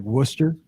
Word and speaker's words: Worcester: So they were talking about all these crazy places in like New England where, you got like Worcester. See, I know Worcester because the Blues used to have a minor league team there.